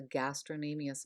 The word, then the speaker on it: gastrocnemius: Some people refer to this as it's nicknamed the gastroc, but whenever there's a C before an N, which there should be on this slide, the C is silent and the N is pronounced.